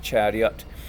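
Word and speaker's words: Charyot: eye but it's pronounced chariot the accent is on the second syllable stands for attention Sagi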